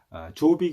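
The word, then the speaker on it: Jórvík: 바이킹 들의 이제 욕구를 아조 빅 이라고 불렀습니다 그래서 어 7 아무래도 말씀드린 것처럼 그 제이가 묵음 이기 때문에 욥 이라고도 합니다 지금도 아이워크 에 가면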